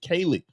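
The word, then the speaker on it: Kayleigh: And Kaylee Long, I think that's how you pronounce her name. K A Y L E I G H. Kaylee.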